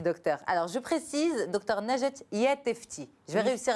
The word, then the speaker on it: Najat Yattefti: Alors, je précise, Dr Najat Yattefti. Je vais réussir à bien le prononcer.